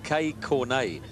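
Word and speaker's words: Kei Konei: Kay Cornet, I'm told, is the correct pronunciation.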